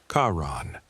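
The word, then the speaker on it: Charon: Even if one has never been entirely certain of his name's proper pronunciation, it is, for the record, Kaon, though he does not strike one as the sort who would offer corrections.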